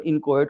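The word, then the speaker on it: inchoate: एक तीसरा यहाँ पे बदलाव जरूर एक किया गया है कि जितने भी इनकोहेट ऑफेंसेस है ना, इनकोहेट ऑफेंसेस, सॉरी पहले मैं इनचोड बोल देता था, प्रोनाउंसिएशन गड़बड़, इनकोहेट ऑफेंसेस हैं, अपूर्ण अपराध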